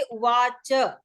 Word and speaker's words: उवाच: वो च का पूरा आपको बोलना है, वो च अक्षर तो संस्कृत में पूरा बोला जाता है अक्षर। यही अंतर है बोलने में कि हम संस्कृत में पूरा अक्षर बोलते हैं, हिंदी में हम कभी कभी आधा बोल देते कभी पूरा बोलते हैं, है ना।